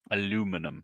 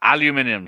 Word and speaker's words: aluminium: Aluminum. Yes, aluminium.